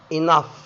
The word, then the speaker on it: enough: لكن في حالة استثنائية، لو جه قبلها حرف اليو بينطق الجي والاتش ف، زي كلمة enough وكلمة love.